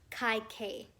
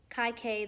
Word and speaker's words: Kaikeyi: so in the audiobook they keep saying her name kai k so that's what i'm gonna say kai k that's pretty easy to pronounce um but anyway uh